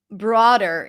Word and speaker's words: broader: But it's fine, whatever you choose, as long as it's not bro or something like that, bra.